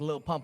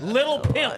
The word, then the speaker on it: Lil Pump: My birthday I shared with like Lil Pump or some shit. I'm embarrassed to tell people like Little Pimp, okay? That's how they pronounced him at a Trump rally.